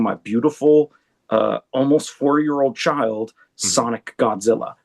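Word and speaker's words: Sonic X Godzilla: And while all that was going on, the entire time I was working on my beautiful, almost 4-year-old child, Sonic Godzilla. We don't pronounce the X.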